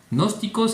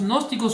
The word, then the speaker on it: gnósticos: de los gnósticos no gnósticos se escribe con g al principio y luego n no gnósticos que eran